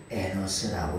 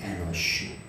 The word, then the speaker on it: אֱנוֹשׁ: 하는 사람이 아들을 낳고 에노스라고 이렇게 불렀다는 거예요 그런데요 에노스라고 하는 말은 에노스라고 하는 다이노스 에노스라고 하는 말은 정확하게 말하면 에노시라고 하는 그 발음이 에노쉬 에노쉬 그런데요 에노시라고 하는 말은